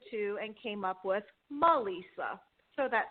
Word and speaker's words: Melisa: It's still like Melissa, but it only has the one S.